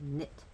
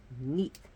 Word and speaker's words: Neith: Well, before the Greeks came, her name was actually pronounced as Nit. When the Greeks came, they put the H at the end and her name became Neith.